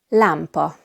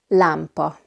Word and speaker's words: lámpa: In Hungarian, lámpa. Lámpa. We have the 2 A's, one with an accent and one without. So now you can hear the difference better. Lámpa. The first one is A, the second one is A.